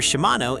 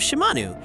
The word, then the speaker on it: Shimanu: Meanwhile, Kurrapika apologizes to Shimanu for calling her Shimano instead of Shimanu.